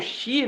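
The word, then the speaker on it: し: Porque a pronúncia no Japão, o shi, né, e hiraganada, ela é a mesma pronúncia do que a morte, né?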